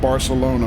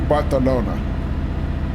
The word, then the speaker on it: Barcelona: Barcelona armundo I mean we always pronounce it Barcelona because you know English pronunciation but um I remember when I was there somebody corrected me that a lot of the sounds in Catalonia you pronounce as you know th sounds so they they kind of corrected me to do that so it should be botanona even though I'm still not saying it completely right because my tongue